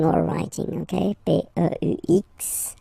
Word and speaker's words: peux: P-E-U-X, okay, don't pronounce the final X.